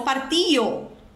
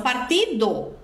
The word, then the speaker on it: partido: que você escuta então ele cantou ou coração Partio que é coração partido mas ele não pronúncia o d ele aspira Essa d então é coração Partio